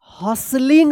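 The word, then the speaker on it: hustling: और one everyone was हॉसलिंग पढ़ेंगे एच यू एस टी एल आई एन जी यहां पे टी जो है ना साइलेंट रहेगा।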